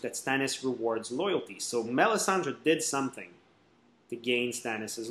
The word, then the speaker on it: Melisandre: Oh, it's very French as a name, because in French I can pronounce it very easily. It's Melisandre, which is actually very nice. And it's pretty common, too, as a name in French.